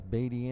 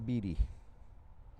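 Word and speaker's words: Beattie: bd so well b-e-a-t-t-i-e i've heard it pronounced both ways baity and beety there's a stolen puck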